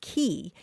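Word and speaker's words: quay: the word spelled quu a y is usually pronounced key it came into English in the 1300s uh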